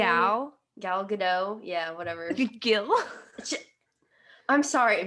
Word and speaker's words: Gal Gadot: Kristen Wiig and Gil Gadot. Is that how you say it? Gal Gadot.